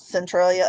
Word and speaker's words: Centralia: And this is in, is it Centralia, Illinois? Am I pronouncing that correctly? Yes, Centralia, Illinois.